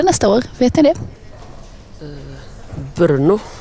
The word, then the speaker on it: Brno: Brno, tror jag det uttalas.